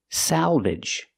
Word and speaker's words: salvage: there's an L there so we use the a sound like black cat Salvage and a short sound at the end IG together Salvage and what is Salvage